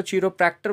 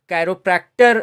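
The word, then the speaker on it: chiropractor: Actually इसको British में अगर आप देखेंगे तो चिरोप्रैक्टर बोलेंगे, लेकिन आप इसको कैरोप्रैक्टर अमेरिकन इंग्लिश में बोलते हैं।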